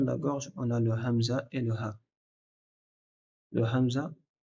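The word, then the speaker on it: همزة: Puis quand tu laisses ouvrir et que ta ta voix elle passe, ça crée une lettre qui s'appelle hamza. Donc hamza, c'est quand tu coupes ta respiration.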